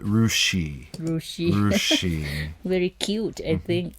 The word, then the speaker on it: Russia: And Russia, everyone knows Russia, but there's a city that's spelled the same in Ohio, and they call it Rushi.